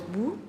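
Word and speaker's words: 不: et non ne pas c'est l'interdiction en chinois et ça se prononce bout nous sommes là face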